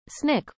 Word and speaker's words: SNCC: taught classes and various SNCC pronounced Snick workshops she traveled to